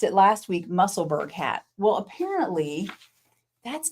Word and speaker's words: Musselburgh: Apparently Isolde is from Edinburgh, and this is pronounced Musselburgh.